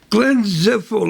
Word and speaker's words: Glenn Zipfel: Glenn Zipfel, ladies and gentlemen. How you doing, Wales? All right, did I pronounce the name correctly?